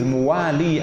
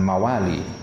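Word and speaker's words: مُوالي: Idh muwali Abi Bakrin. Bacanya muwali, jangan mawali. Karena kalau mawali artinya apa? Budak. Tapi kalau dibaca muwali, ini uniknya bahasa Arab ya.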